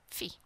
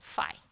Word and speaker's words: phi: they can use the Greek letter phi, or phi, if you want to pronounce it like that.